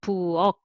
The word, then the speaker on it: 부엌: So this one has that designated syllable structure. So 부엌, 부엌.